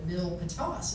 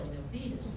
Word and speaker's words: Milpitas: You know, like when I lived in the Bay Area, we called it Mill Patos. It's still Milpitas because it made it sound more exotic. Not how you pronounce it.